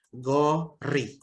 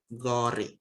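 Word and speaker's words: 고리: dia bertemu huruf I, dia kembali berbunyi R. Jadi ini bacanya gori. Ini aturan. Ya. Kalau bacim bertemu vokal, dia kembali ke bunyi awal. Oke. Nah, itu gori.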